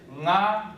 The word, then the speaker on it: nga: It is nga, nge, ni, ngo, ngu. Nga, as in singer, not finger.